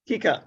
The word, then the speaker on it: Kika: me with the pronunciation is it mr kika is that correct mr bizarre will you help me with the pr or yes you're sorry i thought i was unmuted sorry about that that's okay was that a correct pronunciation am i close you are correct it's kika kika wonderful mr bizzera are